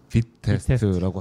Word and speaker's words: Vitest: VI 테스트 이렇게 쓰는데 발음은 빛 빛 테스트라고 하시더라고.